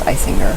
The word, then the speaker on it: Eisinger: My name is pronounced Eisinger. I said it the first time right, didn't I? It's German.